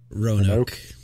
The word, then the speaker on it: Roanoke: It feels even lonelier when you come in from a place like, how do you spell Roanoke, or pronounce Roanoke, Virginia? Roanoke.